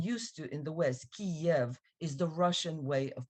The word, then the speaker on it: Kiev: of his name now Kiev is the Russian way of pronouncing the name of the city it's the Russian it's